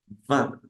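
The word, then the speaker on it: vingt: va va bien va se pronuncia o mejor dicho recordamos que esa I en francés suena a entonces digo va va y recuerdo que es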